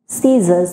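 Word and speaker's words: scissors: সেটাই দেখতে পাচ্ছি যে আই এর আগে সি আছে সো এটা সাইলেন্ট হয়ে যাবে অ্যান্ড দ্য প্রোনাউন্সিয়েশন বলতে সিজার্স এখানে আমি ফোনোমিক সিম্বল দিয়ে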